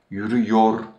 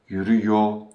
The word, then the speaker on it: yürüyor: singular and third plural, we do not pronounce the re sound at the end of the tense suffix. It is silenced. So, we don't say yürüyorsun, or yürüyor, or yürüyorsunuz, or yürüyorlar. Instead, we silence the re sound at the end of the tense suffix for those persons and say yürüyorsun, yürüyor, yürüyorsunuz, yürüyorlar.